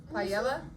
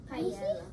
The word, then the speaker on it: paella: Paella? Paella.